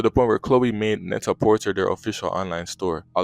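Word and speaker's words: Net-a-Porter: for like high fashion called Neta Porter pretty sure that's how you pronounce it not Neta Porte or something like that it launched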